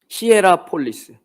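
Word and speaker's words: Hierapolis: 적혀 있는 이 라오디게 교회의 식수의 공급이 시라보엘라 발음이 안 되네. 뭐였죠? 히에보엘라인가요? 그 온천이 있어요. 히에라폴리스.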